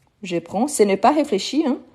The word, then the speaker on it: prends: terminaison ok donc toujours prend on ne prononce pas le D le S SAF qu'il faut toujours